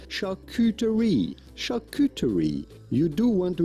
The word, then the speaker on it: charcuterie: actually do you see say charcuterie charcuterie hard c charcuterie um so they shared